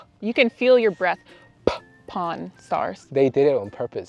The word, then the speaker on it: Pawn Stars: 근데 한국 사람들 이거 발음할 때 굉장히 조심하셔야 돼요. 이게 간혹 위키피디아 같은 데 가면은 폰스타스 이렇게 쓰여 있는데 그렇게 얘기하면은 Porn Stars, 포르노 배우가 돼버리니까 Pawn Stars라고 해야 돼요.